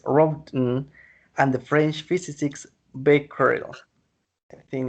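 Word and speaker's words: Becquerel: germans physics is robten and the french physicists bakery in its correct pronunciation in july 1898 the greece announced the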